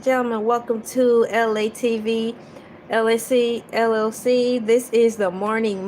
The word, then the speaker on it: ELAY: Once again, this is LA, pronounced like LA, like the city.